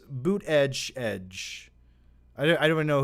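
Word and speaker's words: Buttigieg: giggs he's my favorite also it's pronounced boot edge i don't i don't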